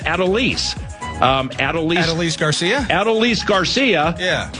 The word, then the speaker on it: Adolis: I think his first name's pronounced Adolis.